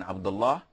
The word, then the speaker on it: Abdullah: But if it's just a name, you cannot say this, because Lahi means a man who's playing. So Allah is the name. You can pronounce it in different ways depending on the context and what comes afterwards. So if you're going to pose, you have to say Abdullah, and that is it.